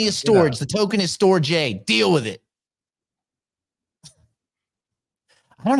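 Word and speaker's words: Storj: The company's pronounced storage, stupid. The token is Store J because there's no AGE, is there?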